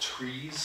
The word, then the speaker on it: TRIZ: Like if it's actually pronounced trees.